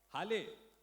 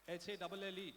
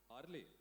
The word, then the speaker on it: Halle: Hale, Hale, H-A-L-L-E, Hale, किसका नाम है Hale? क्या कैसे अपना नाम कैसे प्रोनाउंस करते हो? नाम कैसे प्रोनाउंस करते हो? My name is Halle. हार्ली, okay, well done.